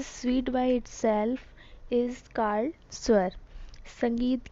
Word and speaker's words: स्वर: उसे स्वर या स्वर कहते हैं. ठीक है. स्वर जनरली प्रोनाउंस एज स्वर इज ए संस्कृत वर्ड.